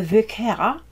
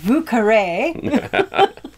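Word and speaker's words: Vieux Carré: new orleans and that it was not the vicara which is how you say it in french but it was the vucare and so when i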